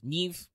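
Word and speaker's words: Niamh: as the father of Neeve and yes I know that's pronounced with the V sound even though it ends with an m beloved of the hero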